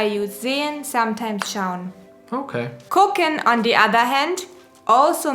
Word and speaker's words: gucken: zen sometimes shown okay kokken on the other hand also means to see but it is slang spelled with a g but pronounced like a k at the beginning no yes no g-u-c-k-e-n